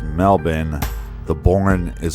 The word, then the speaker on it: Melbourne: and you are super super awsome well it's pronounced Melbourne the borin is silent as you're over at